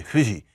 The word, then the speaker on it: Fuji: So let's take the Japanese again, the ever phonetically misrepresented Japanese. We say, I'm going to Mount Fuji. And then they say Fuji.